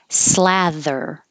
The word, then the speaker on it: slather: Slather. I made this TH bold to remind you that it's voiced.